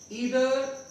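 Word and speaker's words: either: इसको आइदर और नाइदर नॉर भी बोल देते हैं। सब प्रोनाउंसिएशन में कोई ज्यादा वो नहीं रहना है आपको, दोनों ही यूज करते हैं।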